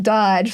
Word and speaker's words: DOGE: I've seen the acronym DOGE, so that's kind of funny. Yeah, they're pronouncing it Doge, like more like a, but it's fun.